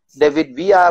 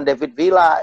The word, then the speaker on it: Villa: David Villa itu kan bacanya kalau Spanyol double L tuh David Villa, bukan David Villa.